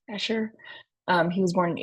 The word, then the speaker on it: Escher: is maritz Cornelius eer and that's how it's pronounced eer um he was born in 1898 and lived until 1972 so a fairly recent artist compared to some of the other ones we studied eer is a Dutch graphic artist um largely known